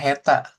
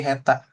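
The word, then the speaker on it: 下手: Berarti jadinya heta. Teta tadi lawan kata dari Jozu. Lawan kata dari Jozu ya kan berarti heta. Nah, bawah sama tangan 2 3 4 dah. Ini kanji heta artinya tidak pandai gitu.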